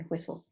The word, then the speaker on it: whistle: you're absolutely correct will whistle has a silent T but you hear the s in whistle all right very good